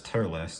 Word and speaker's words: Turles: figure it's um well it says tuls but I know him as tearless I don't know if tuls is the Japanese pronunciation of this guy but here we go